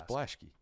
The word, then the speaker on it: Blaschke: Oh, apparently Blaschke. Apparently that one never made sense to me. Why? It just looks like Blask. It's Blaschke. That's the way Dad pronounced it.